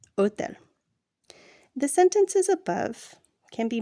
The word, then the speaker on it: hotel: Note, the letter H is always silent in Spanish. Hotel is pronounced hotel.